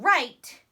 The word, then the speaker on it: write: R I T now W can be a silent letter when it works with the letter R and they come together and make the sound rook rook so W doesn't say anything he works I mean